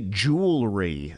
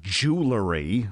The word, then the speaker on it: jewelry: because and avoid mispronunciations a jewelry not jewellery which could offend undoubtedly